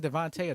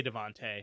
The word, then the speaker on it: DeVonta: or veteran ride receiver devonta smith would have had a one of the most like that would have been a career season for for devante smith his name is devonta devonta i say devante i'm not sure i'm